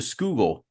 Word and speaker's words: Schuylkill: movie explicitly avoids pronouncing Schuylkill or or as it's known in uh I guess in my tongue the skoogle it's like Google but with an S yeah sure to to